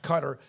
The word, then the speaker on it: Qatar: And yes, a couple of you did tell me that it pronounced Cutter.